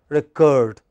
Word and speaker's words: record: syllable which is stressed record but when it is a noun it is the first syllable which is a stressed as known it is record what is it but